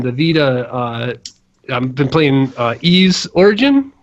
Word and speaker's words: Ys: been playing ease origin I think that's how they pronounce it that's I've heard people say it ease I call it wise do you I think I think it's like Spanish I think the YS you know but uh so I